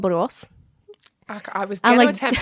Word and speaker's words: Borås: Yes, Borås it's a difficult name to pronounce.